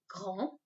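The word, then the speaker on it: grand: a girl so remember a boy is going to pronounce it as gong a girl will be grund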